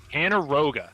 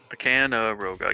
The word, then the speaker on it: Kanarogh: Kanarogh. Thank you very much, chat. Appreciate you all. Kanarogh. Yeah. Much like 4-syllable, much like Canyonero, the classic vehicle from The Simpsons.